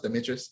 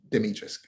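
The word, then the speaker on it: Dimitrescu: um demetrius um and by the way it's pronounced demetrius they say it in the game ethan says it's demetrius so yeah her name and it's i have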